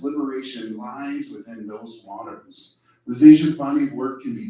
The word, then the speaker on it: Lisasia: Lisasia. Nice. I guessed at that. I got it right. People get my name wrong all the time.